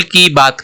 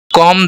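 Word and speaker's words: comb: बालों को कंघी करो कम दहर को दहर इसको कोंब नहीं बोलते हैं यहां पर साइलेंट है सी ओ एम बी तो इसको हम बोलेंगे कॉम कॉम दही और जिस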